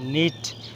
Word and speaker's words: knot: Knife, KNIF knife, এখানে কেটা silent আছে। তারপর হচ্ছে নিট, KNEAD নিট।